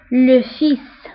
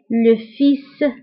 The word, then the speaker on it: fils: فكنقراوها بزيد l'épouse الابن le fils فبالنسبة لو فيس كنكتبوها بال ولكن ما كنطقوهاش لو فيس والابنة هي لا في